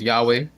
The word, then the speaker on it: Yahweh: They're just highlighting things briefly on the screen, which we pronounce here as Jehovah. Many people pronounce as Yahweh.